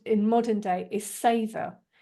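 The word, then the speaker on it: seiðr: in modern day is saor it's spelled s e and it has that blue day that softy and an awe and um it was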